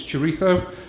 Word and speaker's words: chorizo: get at Tesco in my case it was chorizo that's how you say it they told me